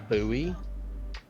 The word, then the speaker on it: Bowie: uh the town bowie actually it's a buoy but i guess i'm yeah it's spelled bowie i said honey it's spelt buoy like buoy knife like jim or uh jim bowie it's not